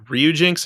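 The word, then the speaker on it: Ryujinx: um uh Yuzu and Ryu Jinx I believe is how you say it uh you know they're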